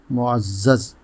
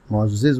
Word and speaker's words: معزز: غلط بولا جاتا ہے۔ آج کا لفظ ہے معزز۔ یہی درست ہے، عام طور سے معزز بولا جاتا ہے، یہاں تک کہ ناموں میں بھی جب یہ نام رکھا جاتا ہے تو معزز کہا جاتا ہے، جبکہ